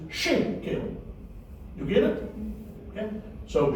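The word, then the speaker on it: שקל: To show you that this word, which has got 2 syllables, shek and kel, is accented, stressed on the first syllable. So the word is not shekel, in other words, put emphasis on the second syllable. You put emphasis on the first syllable. The word is shekel.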